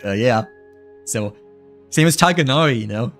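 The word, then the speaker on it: Tighnari: So, same as Tiganari, you know? It's always pronounced as tagonar instead of the other way around like yeah.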